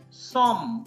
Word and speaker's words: sommes: So just say nu, N-O-U-S, S is silent, last S is silent, nu, som, like S-O-M-M, E-S is silent, nu som, vous z, because E, you see this E.